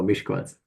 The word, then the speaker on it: Miskolc: So the correct pronunciation is Ash for the S, and C can be C. So Miskolc.